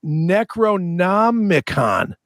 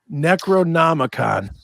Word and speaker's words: Necronomicon: so I don't say it wrong right it's Necronomicon any c-r-o-n-o-m-i-c-o-n Necronomicon like I said not a great book they